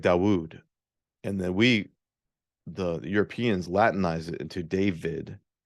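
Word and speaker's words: דוד: And the Hebrew for David is hard to pronounce because you have this D and then it's like Dawood.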